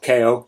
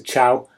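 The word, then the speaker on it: Chao: And then a little section here about how to breed the perfect Chow, I believe they're pronounced as, not KO, it's a Chow, in Sonic Adventure.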